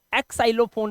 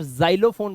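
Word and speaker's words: xylophone: xerox बोलते हैं और इसको एक् साइलो फोन पे नहीं बोलेंगे इसे आप जाइलोफोन बोलते हैं ज का उच्चारण होता है एक्स नहीं पढ़ते इसको जाइलोफोन ठीक है क्लियर हो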